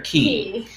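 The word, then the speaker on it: Quay: we went to sydney they have circular key and it's spelled q-u-a-y um and i always thought it was k but they you know they say key when you get there so circular key and i think this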